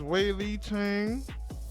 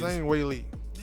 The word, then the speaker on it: Zhang Weili: I think it's Wei Li Chang versus Rose Namajunas. Yeah, this fight right here. No, it was Zhang Weili. I said it wrong.